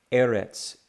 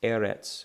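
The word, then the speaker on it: ארץ: the line still makes the same sound that TZ sound is in the word pizza this we see at the end of a word Eretz Eretz which means the earth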